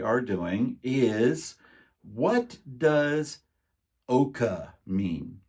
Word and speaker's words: OOAK: they can like uh ftiz it Oka okay there's not an a at the end it's not Oka Oak